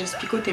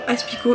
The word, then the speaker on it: Aspicot: Allez, dégage Aspico, t'es mort. Alors ça c'est une dédicace à Bidjo chanceux qui ne sait pas prononcer le nom Aspico, il dit Aspicote.